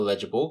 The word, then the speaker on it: legible: So the base word for legible comes from Latin. Finally, something simple. So LEG for the leg start. Just keep in mind that it's pronounced with the soft G sound.